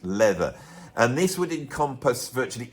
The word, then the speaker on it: Lather: It was spelt Lather, but it's pronounced Leather.